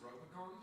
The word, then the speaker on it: Ropecon: It's actually pronounced Ropecon.